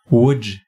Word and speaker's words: Łódź: Ça se prononce comment? Łódź.